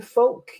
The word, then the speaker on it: Folque: So, can you help me with the pronunciation of your surname, Folque?